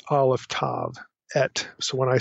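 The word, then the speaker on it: את: It's pronounced et. So it's aleph tav, et. So when I say et from this point forward, I'm talking about this two-letter particle.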